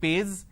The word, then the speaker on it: page: What is the page number? It's not page, it is page.